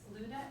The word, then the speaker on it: Luda: For short, it's LUDA, L-U-D-A. So you can call me Luda or Ludmila.